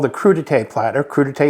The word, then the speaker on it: crudité: called the crudite platter crudite is French so the E with the little Accent on the end and crudite essentially is